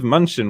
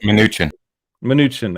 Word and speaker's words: Mnuchin: and then also, interesting, Steve Munchin was also, I can't pronounce his name, Munchin. So the guy that was Donald Trump's right-hand man, I think. Mnuchin, there we go.